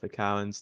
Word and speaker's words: Karen: if anyone's got a pronunciation guide, please let me know for Karen's name. Getting their red base. Surely Um, it's Karen, because like if you ignore the K, it's just Aaron. So Karen. oh yeah.